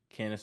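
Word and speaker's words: Candice: I want to give a shout out to cenace Michelle sorry Michelle McCool but kenice Michelle was I'll tell you that was uncool what was uncool you getting her name wrong shout out to Candace Michelle again Michelle M I apologize for getting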